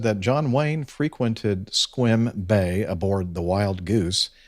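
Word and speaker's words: Sequim: Jeff uh number 613 correction seim I think is what I called it uh is pronounced squim and uh let's see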